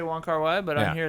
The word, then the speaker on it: Wong Kar-wai: Wong Kar-wai, but on here it's Kar-wai Wong.